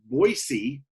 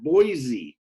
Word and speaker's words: Boise: that's true you know it's pronounced with an S not a Z so Boise and we